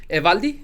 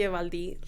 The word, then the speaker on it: Evaldi: Evaldi? Is it my pronunciation right? And I'm Evaldi.